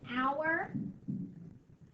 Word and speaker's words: hour: called our hour hand hour is tricky there is that silent h we don't hear that H make a sound an hour um you don't hear that age an hour hand that's counting the hours